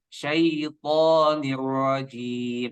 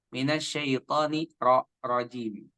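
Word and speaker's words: الشيطان الرجيم: Kita baca syaitonir rajim. Nah, di ra-nya ini tebal ya. Ra-nya tebal, jangan minasyaitoni rajim. Ya, ada tasydid, maka lebih tebal lagi.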